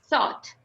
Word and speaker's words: thought: minha professora sempre falava, coloca a língua entre os dentes para pronunciar isso. Então, vocês vão ter que colocar a língua assim. Tá, tá, tá, tá. Esse som, basicamente. Thought.